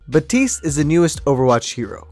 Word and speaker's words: Baptiste: out hero number 30 is batiste or baptiste is it i don't really know how to pronounce i'm not french how do you let me look it up real quick batiste ah okay batiste is the newest overwatch